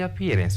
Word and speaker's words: appearance: For the appearance, let's check the appearance. Which one is longer between this and cas? Of course, the second one. Therefore, you stress.